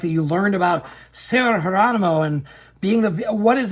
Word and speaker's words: Geronimo: like sarah geronimo and it's spelled geronimo but it's sarah geronimo and i was like